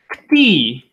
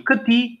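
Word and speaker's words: këtij: Kti, masculine, ksai, feminine, or pronunciation, kti, ksai, or just kti, ksai.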